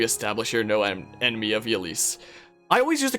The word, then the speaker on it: Ylisse: Fire Emblem Warriors, and they call it, like, Ylisse, or, like, Elise or something like that. And I was like, oh, that's how it's pronounced.